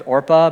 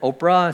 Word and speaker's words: Orpah: I actually heard that Oprah Winfrey's name, when she was born, it was Orpah, but people pronounced it wrong. They said Oprah, so she became Oprah, but she's really Orpah.